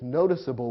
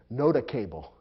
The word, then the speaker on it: noticeable: ought to be pronounced noda cable or nota couple and that would be wrong so the e makes it clear to the reader that the c or g is soft and ought to be